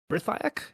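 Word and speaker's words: Brithiach: And they ran as far as the fort of Brithiak. Is that how you say it? Brithiak? Brethiak, yeah.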